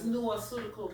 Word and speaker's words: Nuaceutical: Like nutraceutical, but you just take the TR from it. Nua, like Nuani. So it's Nuaceutical, which means spiritual medicine.